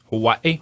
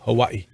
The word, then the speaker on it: Hawaii: quarterback D.C when he was at Hawaii it's pronounced can you say it that way Hawaii Hawaii when he was at Hawaii and then he